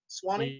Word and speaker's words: Sawhney: It's from an album called London Undersound, and Nitin Sawhney, I want to say. Sawhney? Yeah. Yeah, that's how you pronounce his name.